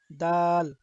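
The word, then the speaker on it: دال: দাল বাংলা তার উচ্চারণ দ আকার দায়ের মতো, দাল।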